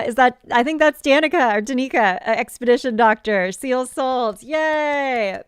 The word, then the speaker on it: Danica: Okay, Danica. Great. I was putting the emphasis on the wrong syllable.